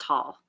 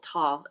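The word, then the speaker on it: Tolle: everyone says tly his his name is actually pronounced tall to tall he's German anyway um he he changed his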